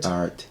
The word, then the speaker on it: D'ART: hey everyone back for another episode of the archdiocese vlog i'm henry thurlow arthur eisen once again the pronunciation is art all right um so uh oh this is episode 40.